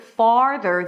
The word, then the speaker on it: farther: In the word farther, the A sound is there.